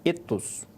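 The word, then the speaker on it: ἔθος: Então, escrito com essa letrinha, a pronúncia era eitos, e escrito com essa outra letra, o epsilon, era etos. Então, ele era o e curto, que se dizia etos, eitos.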